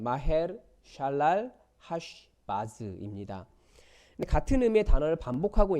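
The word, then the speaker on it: 마헤르살랄하스바스: 아들의 이름이 뭐냐 면 마 헬 살 날 하스 바쓰 굉장히 길고 어려운 말이죠 그가 히브리어 발음으로 하면 마 헬 샬랄라 하 식 마스 입니다 같은 의미의 단어를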